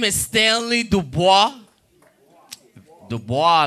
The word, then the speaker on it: Dubois: name is stanley dubois dubois like w.e.b dubois jackson um janet dubois from good times yes i hate when people mispronounce my name call me do boys because i don't do boys one time i was